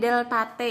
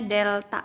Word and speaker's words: delta: mcm2 * CD kali deltate ini bacanya Delta Hai nah bacanya Delta yah rumusnya Q = m